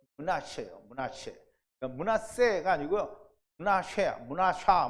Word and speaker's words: 므낫세: 므낫샤 뭐 이렇게 해야 돼요. 그러니까 발음은 어떻다?